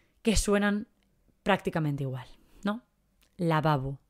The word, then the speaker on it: lavabo: suenan prácticamente igual no lavabo cuál es la diferencia entre la primera y la segunda ninguna lavabo no decimos lavabo decimos lavabo así que en este caso